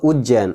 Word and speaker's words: उज्जैन: क्या है उज्जैन है और उज्जैन में देखिए दो बार जज का उच्चारण होगा ठीक है दो बार जाएगा उच्चारण तो उज्जैन उज्जैन ठीक है तो द्वितीया